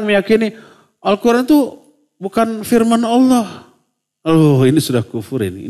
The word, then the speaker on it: الله: penulisan penulisan yang EE pengucapan yang benar dari tulisan Allah ya Allah bukan Allah karena di sana lamnya itu disebut tafhim bukan tarqik tebal kecuali kalau baris sebelumnya